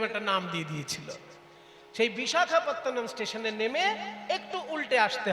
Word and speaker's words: বিশাখাপত্তনম: ইংরেজরা অত কঠিন নাম উচ্চারণ করতে পারতো না বলে তারা নাম দিয়েছিল ভাইজাগ। ওজন্য সবাই এখন ভাইজাগ। ইংরেজদের শেখানো নাম ভাইজাগ আসলে ভাইজাগ তো নয় কথাটা বিশাখাতনাম বিশাখা বিশাখা নয় আকার হবে না শুধু খ এবার যেহেতু সাউথ ইন্ডিয়ায়